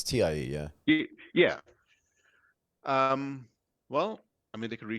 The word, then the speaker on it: TiE: Is Mike pronouncing this right? It's TIE, yeah?